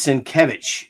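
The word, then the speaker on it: Sienkiewicz: Bill's last name is Sin Kevich. That's how you pronounce it.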